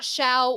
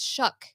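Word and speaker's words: Shough: what it is sh it's not Shia or show it's shuck what I know but it's spelled no way man get his name up here you'll see there's no way that's how it's said it's a GH but it's said with like a c k it's very strange totally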